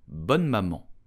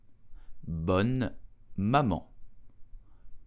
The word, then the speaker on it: Bonne Maman: So how do you pronounce this brand correctly? You will say bonne maman, bonne maman, bonne maman.